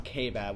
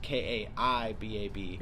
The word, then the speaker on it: Kaibab: okay so growing up I grew up on ke baad which is actually spelled ka I Bab okay everybody called it ke baad growing up